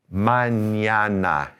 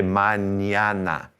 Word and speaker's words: mañana: manana. You say manana.